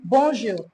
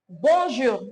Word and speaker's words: bonjour: We start by saying bonjour. Start by saying bonjour, right? Bonjour, not bonjour, because a lot of English speakers like to say bonjour.